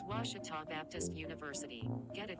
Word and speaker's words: Ouachita: it as well 42-39 washita trails back in a moment this is the ouachita sports digital network i've heard people say oh a cheetah oh wichita oh a